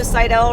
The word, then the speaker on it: Seidel: Seidel rhymes with Rydell, reminds me of high school, and the New Horizon High School.